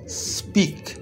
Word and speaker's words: speak: স্পিক, SPEAK, স্পিক। ই এর উচ্চারণ আবার বলছি দীর্ঘ ই এর মতো হয়, দীর্ঘ ই। তাহলে SPEAK, স্পিক।